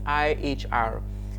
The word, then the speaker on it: ihr: It is pronounced ear, just like your ears, obviously. It's pronounced ear, IHR. Please take note of the spelling and the pronunciation. IHR pronounced as ear.